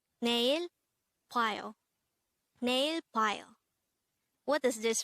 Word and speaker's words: 봐요: BWAYO. BWAYO. This is composed of two syllables. The first syllable is BWA and the second syllable is yo.